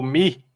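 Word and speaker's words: μῦ: outro ele é o mi O Mi Ele tem ele tá escrito mu mas é Mi né É mi isso é Mi tá é porque o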